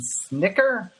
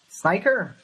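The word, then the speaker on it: Snitker: do you pronounce his last name I've never pronounced his last name Snicker sniker what I didn't even know what his name was hold on s n i t k e r hiter I think Snicker however you pronounce it he's a new manager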